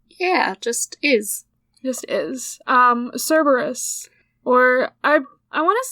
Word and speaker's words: Cerberus: Or, I want to say, like, in Greek it's actually, like, Kerberos? Because it's got a K instead. I believe Greek. so. But I think, like, the modern English pronunciation is, like, Cerberus.